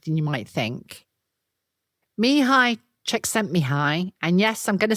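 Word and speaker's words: Csikszentmihalyi: Mihi Czech sent Mihi.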